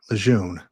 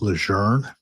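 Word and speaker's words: Lejeune: why you know so it is not pronounced leun like I've always been calling it. She mentioned to us it was pronounced leger and I always thought where's the r?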